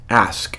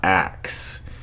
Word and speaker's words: ask: She said to this poor black girl, and just remember, when you're out there in the real world, it's ask, not axe.